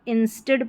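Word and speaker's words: instead: यहाँ पर इंस्टेड पढ़ा जाएगा, इसको INS, इंस। TEAD, इसको टिड करके उच्चारण इसका होगा, इंस्टेड ऑफ, OF, ऑफ।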